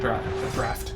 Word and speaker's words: draught: I remember something about the end draft. I think it's pronounced draft, even though it's spelled draught.